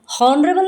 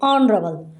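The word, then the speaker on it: honourable: हालांकि एच है, वो कॉन्सोनेंट है, बट एच साइलेंट है. हम इसको क्या बोलते हैं? हॉनरेबल नहीं बोलते, ऑनरेबल.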